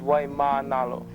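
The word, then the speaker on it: Waimānalo: words most folks think they know but frequently mispronounce Aloha the word the day is why Manalo why Manalo is located on the Winward side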